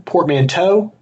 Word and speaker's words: portmanteau: Is it one portmanteau or two portmanteau? How do you say it? I feel like it's toe, because that EAU sound is bow, right? No, it can be EU too.